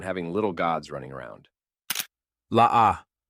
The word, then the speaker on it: La'ah: La'ah. Yes, you read that correctly. Pronounced La-Ah. This name may seem harmless enough, but Georgia is not having any of it.